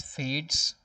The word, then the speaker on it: fades: we pronounce it as fades and we do not really pronounce this e here it's fades one word